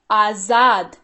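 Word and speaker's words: आज़ाद: सबसे पहली चीज इसको पढ़ते हैं आजाद। क्या पढ़ते हैं? ध्यान दीजिएगा, ज के नीचे नुक्ता लगा हुआ है तो ये ज हो गया।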